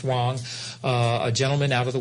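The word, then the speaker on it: Huang: It's spelled H-U-A-N-G, but it's pronounced Wang.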